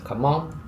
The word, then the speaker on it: Cảm ơn: Thank you: Cảm ơn (pronounced like "gahm uhn") Hello: Xin chào (pronounced